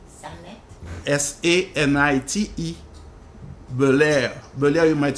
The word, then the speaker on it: Belair: So now this is something that just caught my eye the other day, because I always knew her name, Sanit Belair, but I didn't know she was a full-fledged